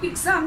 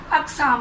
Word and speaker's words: अक़साम: इसी तरह अक़साम, तो नॉर्मली मैंने जो लोगों को देखा है तो वो लफ्ज़ को पढ़ते हैं इक़साम, इक़साम नहीं होता, अक़साम होता है।